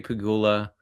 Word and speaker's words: Pegula: Yeah, Brandon Beane and Terry Pegula, the Bills' owner, had definitely how you say it.